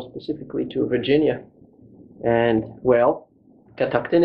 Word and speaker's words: Catoctin: to virginia and well catactin it is am i saying it right yes that's right cataclysm creek very good